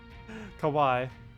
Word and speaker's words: kawaii: Wait, Kawei rhymes with Hawei. Hawaii. Wait, Hawaii. Kawaii. Oh, is it Kawei? Oh, Kawai. Oh, yeah. Kawaii.